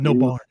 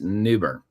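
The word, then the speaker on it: New Bern: So you we would in Colorado say we call it Newburn. Newburn is what we would say. Newburn in Colorado. Here it's Newburn.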